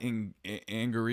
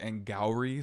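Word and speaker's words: Angourie: name is avantica also the girl who plays caddy her name is not anger or whatever I said last week her name is angry so I was saying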